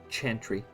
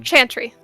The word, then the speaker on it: Chantry: the chandry uh it's it's pronounced Chantry like like chanting Chantry oh that does make